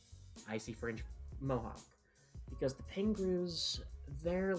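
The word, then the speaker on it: Pengroos: They're called uh pangrus. Uh, so the pangruas, their name is spelled P E N G R O O S for what anyone would think.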